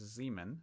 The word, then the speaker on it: Ziemann: stifled and or stifle you always pronounce the second letter okay i know that because zeeman z-i-e pronounced the second